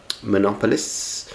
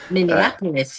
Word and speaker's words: Minneapolis: Monopoulos. Minneapolis.